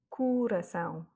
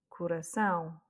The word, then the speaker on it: coração: Coração, et non pas coração ou coração. C'est coração.